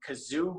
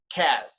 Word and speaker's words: Kaz: i get i get i get uh kaz i've gotten kazoo before and my last name people find 100 ways to mispronounce too but uh yeah chasmanian devil has